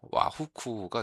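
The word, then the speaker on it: 和服: 그래서 일본 옷을 화복 복이 후쿠이기 때문에 화복 해서 어 일본어 발음으로는 와후쿠가 되겠습니다.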